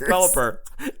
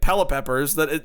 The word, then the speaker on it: Pelipper: They also got the name wrong because it's Red Hot Chili Peppers. It's Pelipper. Wait, is it? I got it. I'm used to Mr. Curtis saying Pelipeppers.